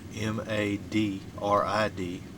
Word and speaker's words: Madrid: spelled M-A-D-R-I-D, but they pronounce it Madrid. Madrid. In New Mexico.